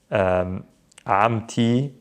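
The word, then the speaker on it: عمتي: We don't pronounce it, but when there's attachments, specifically possession involved, if I want to say my car, the car of someone, anytime we have of to, we pronounce the T.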